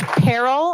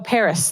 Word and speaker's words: Paris: Peril. I'm sorry if I pronounced that wrong. Peril. Oh, Paris.